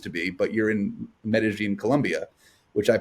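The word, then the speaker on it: Medellín: that you used to be, but you're in Medellin, Colombia, which I pronounced correctly.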